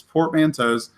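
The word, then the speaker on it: Portmanteau: credit where it's due she put up a video that that pretty much said this is how you say this it's portmantos um and you uh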